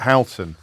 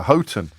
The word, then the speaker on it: Houghton: say I'm being bombarded by geordies because I mispronounced Bridget phillipson's constituency I I called it Halton uh instead of ever as as every fool knows she is the the MP for Houghton and Sunderland South but by saying I've been